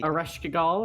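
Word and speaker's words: Ereshkigal: and that would be ereshkagill i'm not sure if i pronounced that correctly arresh kagal i believe is the correct pronunciation all right thank you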